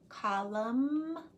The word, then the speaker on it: column: Did you hear silent N in autumn, column, condemn? The N is silent.